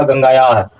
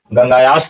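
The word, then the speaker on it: गंगायाः: सुरते जत गंगाया तीरे यहां उच्चारण क्या होगा गंगाया गंगायास तीरे नहीं होगा गंगाया तीरे बुद्ध काले पाटलिग्राम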